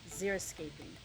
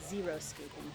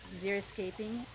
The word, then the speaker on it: xeriscaping: also landscape design called xeriscaping which a lot of people mispronounce and call it zero skating which it is not xeriscaping is a really great